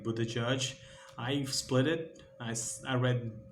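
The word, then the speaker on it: Buttigieg: It's most like a Buddha Judge.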